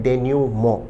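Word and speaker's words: denouement: प्रश्न शब्द एक बेहतरीन शब्द है जिसका उच्चारण है डेन्यूमो। विद्यार्थी ध्यान दें शब्द का प्रोनाउंसिएशन डेन्यूमंट नहीं है।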